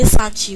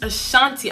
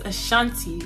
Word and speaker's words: Ashanti: my dad is from the assange region ashanti i said asan cheese ashanti i don't think he's